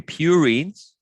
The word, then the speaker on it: purine: i i try to remember like purine has two syllables so two rings and